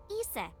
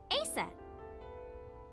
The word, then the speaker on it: Isis: horses mom has named Isis but in ancient Egyptian it's pronounced closer to ISA or ASA hmm how do I